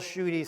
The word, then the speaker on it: Schuette: you know your honor just say on duty bill shooty three times and you'll get it down pat now there were pretty quick studies and they learned that they were able to say shooty and that case uh